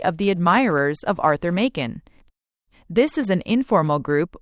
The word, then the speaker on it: Machen: Knops admin applying modern techniques exhorted readers to remember Makin. It rhymes with Kraken.